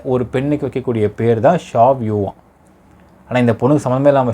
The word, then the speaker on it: Xiaoyu: நான் ஃபஸ்ட் வார்த்தை சொல்லியிருந்தேன் பார்த்தீங்களா மக்களே, அந்த பொண்ணுடைய பெயர் ஸ்பெல் பண்ணுறப்போ XIAOYU, இதை ப்ரொனவுன்ஸ் பண்ணுறது வந்து ஷாவ்யூ அப்படிங்கிறாங்க.